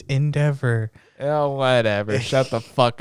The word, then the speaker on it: Endeavor: That's like that, what was it, the Evan Dower fight? You're sitting there like, come the fuck on, you can do it. Why do you pronounce everything so weird? It's Endeavor.